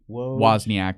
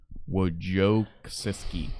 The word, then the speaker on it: Wojcicki: You would want to say Wozniak, but Wozniak was the CEO of Apple. Wojcicki.